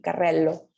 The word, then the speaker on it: carrello: Si se fijan, ¿sí? La pronunciación de la doble R es igual que en español, carré, ¿sí? Pero la doble L se va a pronunciar como alargada, ¿ok?